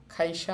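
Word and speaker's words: 会社: খাইসা মানে হচ্ছে কোম্পানি। ওই যে আমাদের ক লাইন শুরুতে আসছে। এজন্য খ এর মত উচ্চারণ করতেছি আমরা।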